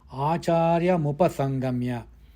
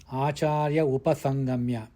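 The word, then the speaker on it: आचार्यमुपसङ्गम्य: Acāryamupasangamya. It should not be pronounced as Acārya upasangamya. No. Acāryamupasangamya.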